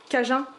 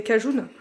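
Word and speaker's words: Cajun: d'épic comme ça mexicaine on m'a dit en commentaire que ça se disait je pas si vous voyez cajin moi je disais cajoun du coup effectivement il y a une sacré différence dans la prononciation alors un petit peu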